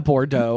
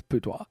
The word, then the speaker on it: boudoir: A Bordeaux, as some people would call it. It's boudoir. A Bordeaux? It's like spelled like Bordeaux, but it's boudoir.